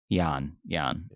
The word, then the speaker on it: Jan: Jan. It's spelt Jan, but it's Jan.